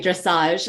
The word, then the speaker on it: dressage: know first of all thanks for the pronunciation it's like French right dressage and it's really that